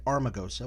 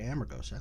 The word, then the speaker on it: Amargosa: say potency we will never say uh amargos we won't say armagosa we'll say Amargosa because that's the way we pronounce it and so we want